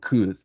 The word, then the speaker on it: could: these words should and could and why is similar because we don't pronounce the letter L we don't pronounce and